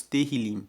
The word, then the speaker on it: Tehillim: E, por fim, os salmos, no texto original, são chamados Tehillim. Se escreve T-E-H-I-L-I-M, e Tehillim significa louvores.